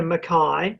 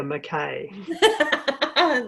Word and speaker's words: Mackay: all right so it would be uh makai not mckay exactly so yes we both